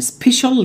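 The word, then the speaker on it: special: سائل خاص يعني سبيشال ليكويد، خد بالك السي اي اي بنطقها زي الاس اتش بالظبط، سبيشال، وهتقول سبيشال سبيشال ليكويد.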